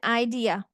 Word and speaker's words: idea: write it like this how many syllables in idea enter it at this three syllables idea a stress syllable is this one is idea idea idea this is how we say it let me let me